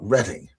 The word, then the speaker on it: Reading: Uh an awful lot of stuff going on in Reading, which is spelled Reading, but for some reason you got to call it Reading.